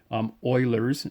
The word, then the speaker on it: Euler: It's called our natural number, or Euler's number. Euler is a famous mathematician. I know his name doesn't quite look like you pronounce it as Euler, but that's how we say it.